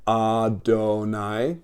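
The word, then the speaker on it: אֲדֹנָי: it and around it see these little little dots I put around it this thing it looks like a t is an a sound that's an O up there and that's a an a sound too going this way Adonai my lords they took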